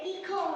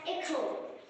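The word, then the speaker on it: echo: আরে এটা কি ইখো? এটা ইকো না, এটা এখো।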